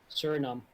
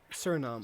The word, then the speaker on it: Suriname: on other news, Suriname. I don't know what the fuck it is in English. Suriname. Suriname. So just not the A.